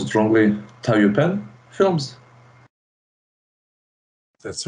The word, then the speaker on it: Taiyupian: Specifically, sorry if I pronounce it wrongly, Taiyupian films.